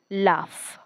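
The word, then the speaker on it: laugh: म्हणजे कठीण रफ कच्चा शेवटी जी एच आहे या प्रत्येक स्पेलिंग मध्ये फ साऊंड देणार आहे पण असं प्रत्येक वेळेस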